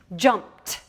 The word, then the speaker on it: jumped: with me jumped and I hear a different sound at the end of this word jumped because sometimes the suffix IDI can say duh sometimes it can say it and sometimes it can say that's a really tricky thing about this suffix